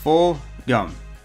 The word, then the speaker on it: Fulgham: round receiver Travis Fogle and yes it is pronounced bull dumb see how before this draft I had never